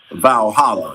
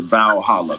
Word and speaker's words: Valhalla: Cairo, they so their heaven is considered Valhalla.